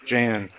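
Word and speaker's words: Jeh: of uh DHS J Jan is it J Johnson or it's j it's it's je eh but I think he pronounces it J it doesn't yeah we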